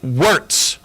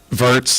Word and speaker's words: Virts: Terry Wartz. Am I saying it right? Wartz. Vertz.